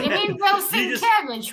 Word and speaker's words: Sienkiewicz: Bill Skowinski cover. There's Bill Poison Ivy Skowinski? and Heart. How do you pronounce his name, Roger?